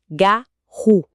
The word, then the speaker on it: garou: homens, os garou, aliás, a fonte até faz uma observação sobre a pronúncia, né, que o correto seria garu e sim, com a tônica no final, mas o próprio material